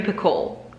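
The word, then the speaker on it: Picoult: how to say it i think she said the ul and the t are silent or the l and the t are silent jodi piccole jody piccol we're gonna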